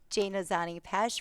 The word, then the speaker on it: Jana Zanni Pesce: I will just say since my I will I will correctly pronunciate my name. Jane Ozani Pesh running for reelection of counselor at large.